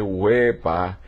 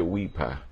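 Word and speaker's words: wepa: Y que dice huepa y no se dice huipa, se dice huepa.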